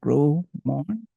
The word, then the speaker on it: Gros-Morne: Gros, it's a silent S, it's the French people's thing. Okay, Gros-Morne, Haiti, and raised in Miami, Florida.